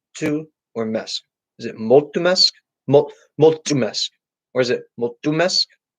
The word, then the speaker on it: mulțumesc: Which syllable is the stress on? In multumesk, where do you emphasize the accent? Mesk.